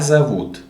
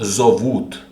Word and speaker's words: зовут: The vowel o in the unstressed position is pronounced a. Okay? So it's not зовут, it's зовут.